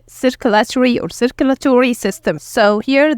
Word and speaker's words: circulatory: We can divide this word into 5 syllables as we see here. It's sir, ku, la, to, re, circulatory.